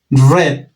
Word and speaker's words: read: read en presente pronunciación read red como si fuera el color rojo red se pronuncia en